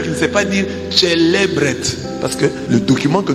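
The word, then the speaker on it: celebret: C'est comme ça qu'un prêtre prononce célébret.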